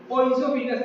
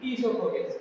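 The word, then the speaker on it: oesophagus: जहां भी ओ और ई आ जाता है उसका प्रोनाउंसिएशन ई होता है, ठीक है। जैसे ओइसोफिगस नहीं बल्कि ईसोफोगस। क्या बोलेंगे? ईसोफोगस।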